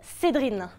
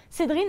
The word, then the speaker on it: Cédrine: Vous l'avez entendu, je m'appelle Cédrine. C'est pas une blague. Cédrine, ça s'écrit C-E-D-R-I-N-E.